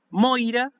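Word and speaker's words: μοῖρα: saber cómo se pronuncia el tercer intento es el tongo hoy siempre suena así hoy entonces tenemos la palabra moira que significa destino básicamente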